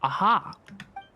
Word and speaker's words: Aha: filter that's all I don't mind aha it's pronounced aha he got what he deserved let's just hope